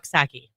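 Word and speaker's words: Coxsackie: get no I'm right it's it's sacki wow but it's it's spelled c x a c k i e someone was having fun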